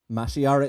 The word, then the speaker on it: Mashiara: Mashiara is correct. And the fact that Greg doesn't know how that's pronounced means that he doesn't listen to the